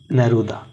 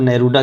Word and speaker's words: Neruda: Pablo नेरूदा, इनको आप English में अगर इनका प्रोनाउंसिएशन देखें तो आप नेरूदा कह सकते हैं, लेकिन ये एक स्पेनिश पोइट हैं और तो हम स्पेनिश में ही इनका नाम लेंगे, पेब्लो नेरूदा।